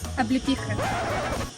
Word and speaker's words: Облепиха: Облепиха. Облепиха. Bueno. Me voy a tomar una oblipija.